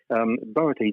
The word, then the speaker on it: Boötes: Boötes, it means the herdsman or the ploughman.